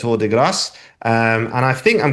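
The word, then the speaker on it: Tour de Gras: the band is I I'm not quite sure how to say this, but I think it's torass, which is spelled T O U R D E G R A S. So, to deass.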